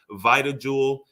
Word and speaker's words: VitaJuwel: Or if you just goo- Google search VitaJuwel and um it's spelled weird.